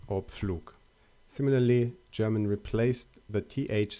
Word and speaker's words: Pflug: For instance, in German, the letter P shifted to PF. Whereas in English, we still have words like apple or plow. In German, they are now pronounced as Apfel or Pflug.